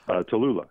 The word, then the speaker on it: Tallulah: guy grandpa bud and cousin Atilla to LA I believe that's how you say it but Tallulah Tallulah there it is how did that happen